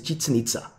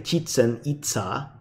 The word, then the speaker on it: Chichen Itza: Typically the last syllable is emphasized, so we don't say Chichen Itza, but we say Chichen Itza. So it kind of sounds questiony.